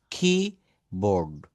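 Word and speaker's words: keyboard: আমরা কম্পিউটারে কিবোর্ড, আমার সামনে একটা কিবোর্ড রয়েছে, এটা কিবোর্ড না, কিবোর্ড, কিবোর্ড। এখানে রটা কিন্তু সাইলেন্ট, বিশেষ করে ব্রিটিশ অ্যাকসেন্টে রটা আর বা র থাকলে এটা সাইলেন্ট করা হয়।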